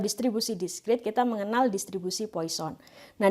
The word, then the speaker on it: Poisson: Nah, di dalam proses diskrit atau distribusi diskrit, kita mengenal distribusi Poisson. Nah, distribusi Poisson ini atau Poisson, ya, yang benar pengucapannya, ini merupakan sebuah distribusi